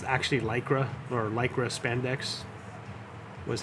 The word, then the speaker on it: Lycra: it as lycra, because that's the pronunciation of the ly. It's a long E sound. So it was just really funny listening to her sometimes say the word lycra.